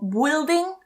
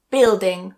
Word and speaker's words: building: Some other ones in this category are build and building. So not build or building, but build building. Remove that U.